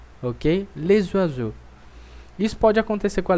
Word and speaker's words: les oiseaux: Então, essa palavra aí que você está vendo, talvez você está pensando, não é para pronunciar o S, então eu diria le oiseau. Não. Como a outra palavra começa com vogal, então eu vou fazer um som de Z, certo? Eu vou dizer les oiseaux, ok?